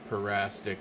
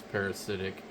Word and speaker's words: parasitic: I found that I always called it parastic, but I guess it's parasitic.